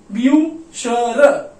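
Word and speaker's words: Bücher: ब्यू ब्यूशर, ब्यूशर, ब्यूशर का मतलब क्या होता है बुक्स, राइट, बुक्स।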